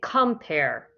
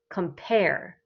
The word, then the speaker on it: compare: the stress is okay avoid the stresses on the second part compare where's the stress second is that's it we do not say compare we say compare compare so our voice